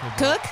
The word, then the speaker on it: Kook: Please welcome to the show Alex Pugsley and Shannon Kook. Cook or Kook? Cook? Yeah. It's hard to tell. It's spelled sort of kook, yeah.